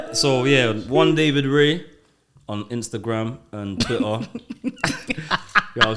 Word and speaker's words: Rey: so yeah one david ray on instagram and twitter y'all saying i got music you can find me on youtube it's david r e y so ray is spelled r r-e-y i'll put that down